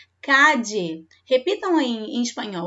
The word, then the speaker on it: calle: Também vocês podem ouvir por aí uma outra forma de pronunciar esse LL aqui, tá? Igualmente aqui no LL do apelido. Eu posso ouvir falar calle ou calle, na Argentina em especial, ou calle também, ou calle.